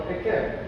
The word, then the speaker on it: Eikev: So it is Akev. It's because. Because is spelled exactly the same as the hill. It's also the same letters that is being used. Akev or Ekev.